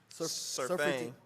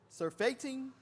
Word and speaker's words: surfeiting: For excess of meats bringeth sickness and surfeiting. Surfeiting. Surfeiting. Why did I say something? The T is silent.